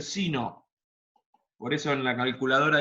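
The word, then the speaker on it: sine: En inglés seno se dice sino.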